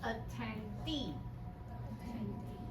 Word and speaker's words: attendee: Attendee. When you see EE at the end of the word, the stress is on that part.